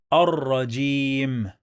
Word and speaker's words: الرجيم: When we add al to any word starts with ra, we don't pronounce the lam. Ar. Then we pronounce the ra 2 times.